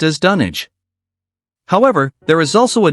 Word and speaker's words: Dunwich: While it may initially seem straightforward to pronounce it as Dunwich, Lovecraft's enthusiasm for English towns led him to select names based on English locales. Thus, Dunwich, located in Suffolk, England, is actually pronounced as Dunwich.